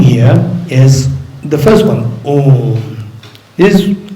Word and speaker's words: Om: In the Buddhist context, Om, this syllable Om is constituted of three letters, A, U, Ma. And these three letters combined together is pronounced as Om, not as There's Om.